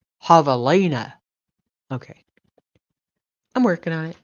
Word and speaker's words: javelina: Ha-ve-li-na. And in South Texan, pronounced javelina.